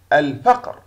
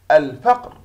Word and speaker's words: الفقر: الفقر. الفقر تحوي القمرية تكتب وتلفظ.